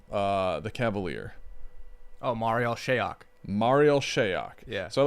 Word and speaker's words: Marial Shayok: Jake, how do you pronounce this man's name? The Cavalier. Oh, Marial Shayok.